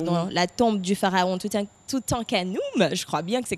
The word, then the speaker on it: Toutankhamon: les pharaons, donc dans la tombe du pharaon Toutankhamon, je crois bien que c'est comme ça qu'on prononce. C'est bien ça le sage? C'est ça, Toutankhamon.